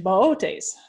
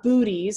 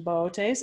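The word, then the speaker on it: Boötes: Because one of the O's in Bootes has umlauts on it. It's not booties, as many people often pronounce it.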